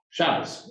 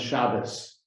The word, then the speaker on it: Shabbos: for it um the the pronunciation is slightly different in yiddish you often emphasize a different syllable and a t at the end often becomes an s so shabbat in hebrew becomes shabbos or sukkot becomes sukas